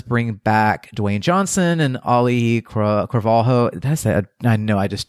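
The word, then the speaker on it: Auli'i Cravalho: and it does bring back Dwayne Johnson and Oli Calo that's I know I just totally butchered that name do you know how to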